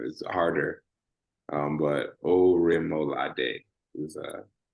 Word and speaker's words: Orimolade: I know the last name is harder, but Orimolade is how you say the last name.